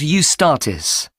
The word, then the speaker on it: Eustatis: there's a performance by a ballet company called eustatis sorry the name is spelt e u s t a t i